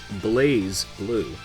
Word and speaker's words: BlazBlue: blazeblue doesn't make any sense despite stylistically missing the E you're required to toss aside your understanding of the English language and simply accept that pronunciation is blaze blue it's the strongest ringing